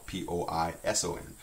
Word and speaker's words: poison: If you just put one S in there, that's poison, P-O-I-S-O-N, which is spelled exactly like the word poison, because that's what it is.